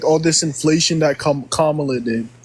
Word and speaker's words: Kamala: all this inflation that Kamala did Kamala Kamala he said it right the first time so again inflation wasn't